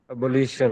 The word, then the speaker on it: abolition: Abolition. Evolution. Yes, I agree. It is coming from abolish. When you say abolish, second syllable has the stress.